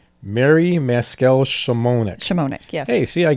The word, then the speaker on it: Maskel-Szymonik: Legally, it's Maskel-Szymonik. Mary Maskel-Szymonik.